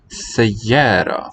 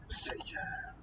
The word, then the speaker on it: سيارة: Sayyara for car. Sayyara. مدينة. Medina, city. سيارة. Sayyara. مدينة. Medina. سيارة. Listen to the different quality of the vowel, those final syllables.